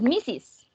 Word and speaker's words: Mrs.: Recuerden que este que tiene R, que algunos pensaron que era Mr., pero tiene una S al final, es Mrs. Mrs. Como si tuviera dos sílabas.